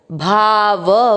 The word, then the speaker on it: भावः: भाव, व में अमिक्स किया। भाव, अ की मात्रा है तो विसर्ग को पढ़ेंगे ह, भावः। पहला चरण रिपीट, अधिभूतम क्षरो भावः।